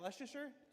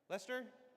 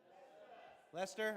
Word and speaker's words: Leicester: How do you say? Is that Leasher? Lester. Lester.